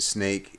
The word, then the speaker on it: Snaic: be okay all right so the name snake i'm pronouncing it snake it's about i'll see